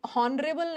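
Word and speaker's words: honourable: आता है a horse but ऑनरेबल नहीं होता ऑनरेबल इसका एच साइलेंट है ओ से शुरू हो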